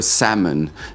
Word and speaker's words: salmon: You never ask yourself if a salmon is sincere. Fantastic pronunciation. He pronounced this word perfectly. He said salmon. Salmon. I love that. It's not a salmon. It's a salmon.